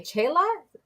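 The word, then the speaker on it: Csilla: It's a word in Hungarian. Okay, Chela, Silla. I always say Silla, Chela.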